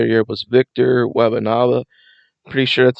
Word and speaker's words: Wembanyama: And Defensive Player of the Year was Victor Wembanyama.